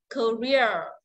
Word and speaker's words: career: Âm ear là dài và nhận trọng âm nhá. Career.